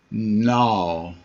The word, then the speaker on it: gnaw: Gnaw. And you notice the G, it's not gnaw, it's gnaw. The G is silent.